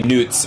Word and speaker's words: Knutson: The "k" is not silent, but I'm still nuts. Yeah, Knutson. Yeah, Knutson. It's actually Newts. We wouldn't pronounce Osbjorn. We wouldn't pronounce it Newts over here.